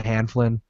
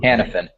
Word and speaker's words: Hanifin: If they fall back far enough, Noah Hanflin. I don't even know how to pronounce his name. It's too Hanifin. Hanifin.